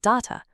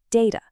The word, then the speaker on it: data: Is it data or maybe data or data? Well, let's break it down. So, what's going on here is basically a regional split. In British English, you're most likely going to hear data, though data is also totally fine. But hop across the pond to North America, and you'll find that data is way more common.